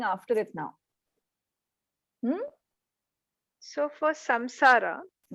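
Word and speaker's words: saṃsāra: So for samsara, it's a ma because it's in because the anuswara is there.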